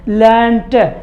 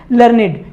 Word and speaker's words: learned: ये भी होता है, लेकिन अगर ये एक एडजेक्टिव की तरह यूज हो रहा है, जैसे LEARNED, ये एक एडजेक्टिव की तरह अगर यूज होता है तो इसका प्रोनाउंसिएशन हो जाता है फिर लर्निड। क्या हो जाता है, लर्निड।